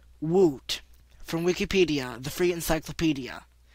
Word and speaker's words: w00t: It is commonly pronounced woot by some gamers.